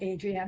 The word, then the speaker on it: Adrian: yes 100% you know people always say Adrienne adri an I always go back to the Rocky movie Adrien that's exactly how you pronounce it so hopefully won't be